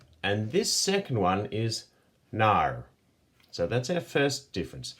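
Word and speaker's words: 哪儿: You'll notice with our tone markers, this is a falling and rising tone, and the comes from this character here. So it's nar, and this second one is nar.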